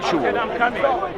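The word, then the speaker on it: חול: So the way you pronounce it in the Hebrew apparently is chul, okay?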